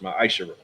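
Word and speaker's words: מעשר: Means 10th in Hebrew and is pronounced Ma'ashara.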